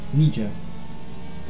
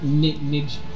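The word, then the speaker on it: Nejedlík: Knee-jerk. Whatever. Knee jerk. I don't think that's how it's pronounced. Nijlik. It is.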